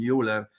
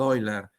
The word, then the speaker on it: Euler: Euler LaGrange equation and Euler probably in America is called Euler in German it's called Euler because it was from Basel but anyway um this this